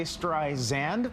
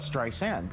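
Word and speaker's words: Streisand: iPhone updates next month Siri will no longer say stri zand but strand with a soft S I wonder if Siri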